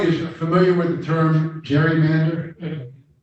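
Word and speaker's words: gerrymander: familiar with the term Jerry Mander it's really not pronounced Jerry Mander the term is Gary Mander but that's the what that's what everybody calls it but it's actually Jerry Mander and the Jerry Mander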